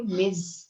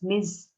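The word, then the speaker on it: Ms.: ठीक है, इसको मैंने आपको बताया था, इसे प्रोनाउंस करते हो मिज। मिज जैसे MIZ लिखते हैं, इस तरह साउंड इसका होता है मिज।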